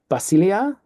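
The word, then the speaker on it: βασιλεία: means word statement message basilia basilia basilia notice the accent on the end there is Kingdom Basia basanos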